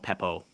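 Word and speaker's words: Pappoe: do you say his last name I want Peppo Peppo all right I'm just curious about size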